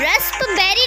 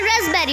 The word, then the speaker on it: raspberry: हम इसे रस्पबेरी नहीं पढ़ेंगे, हम इसे रसबेरी पढ़ेंगे।